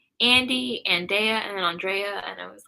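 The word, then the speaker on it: Andree: So, I put and, A-N-D, and then R-E-E. So, and-re.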